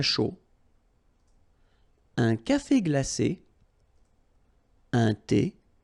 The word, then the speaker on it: chaud: chocolat chaud, remember, CH, chaud, chocolat, and then final T not pronounced, chaud, final D not pronounced, un café glacé, un thé, remember, H is not pronounced.